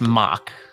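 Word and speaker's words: Mauch: That's M-A-U-C-H. I believe it's pronounced mock.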